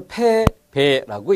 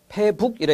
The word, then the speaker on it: 패배: 그래서 패배라고 읽는 거죠. 패북이라 읽는 게 아니라 패배, 달아날 배.